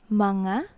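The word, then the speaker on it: mga: next example is manga it's like ma and na this is the pronunciation in english it means to whom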